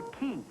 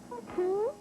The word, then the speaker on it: quay: And one end of the pier, the land end, connects to what's called the quay. Key? Yes, Q-U-A-Y, pronounced quay, which is the wharf that runs parallel with the shoreline.